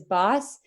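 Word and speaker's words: BWSS: it was Jordan from BW SS as he pronounces his boss unfortunately due to a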